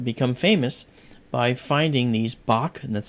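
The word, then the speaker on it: Bok: Bach, an American astronomer, who was actually one of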